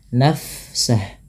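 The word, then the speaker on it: نفسه: illa mana illafiha nafsah Fa bila sukun dialirkan bunyi nafasnya nafsah nafsah nah seperti itu dan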